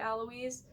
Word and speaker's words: Alois: We don't talk about that as much as I love my boy Alois. Alois, I know, is how it's supposed to be pronounced.